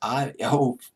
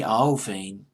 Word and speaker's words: Iovine: I believe that's how you pronounce it. Iovine. I believe is how you pronounce his last name. He's worked with loads of people. I'll go into the roster just a little bit. Jimmy Iovine.